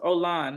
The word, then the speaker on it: Olan: to me it's ol it's pronounced Olan by the way o Olan I cannot your name is pronounced Olan Olan is not an